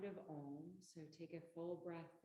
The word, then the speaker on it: Om: So Om is phonetically A-U-M. And then you bring your lips together for the So one more.